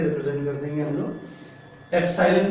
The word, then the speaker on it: epsilon: एप्सिलॉन पढ़ा जाता है, EPSILON स्पेलिंग होती है.